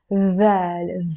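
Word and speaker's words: ذال: And this is the letter thaal, th. I can think of the words this, that, those in English, and that's how we pronounce it, the. It's not a d or a z, it's a the.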